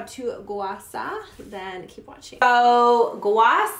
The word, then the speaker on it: Gua Sha: I'm sure you've seen it or maybe you pronounce it as Gua Sha, but it's actually called Gua Sha, and it's an ancient